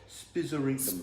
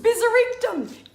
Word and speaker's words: spizzerinctum: Spizzerinctum. Spizzerinctum.